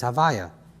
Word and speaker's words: Havaya: The way Yud Kei Vav Kei is pronounced is Havaya, right?